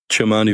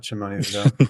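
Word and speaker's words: Kimani: say his name Vidal kamani vial chimani V it's not chimone but anyways uh rostered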